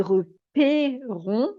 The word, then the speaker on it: repérons: Et repérons, une voyelle fermée, un est fermé, quand il n'y a pas de E muet, en l'occurrence on, ou alors et à la fin.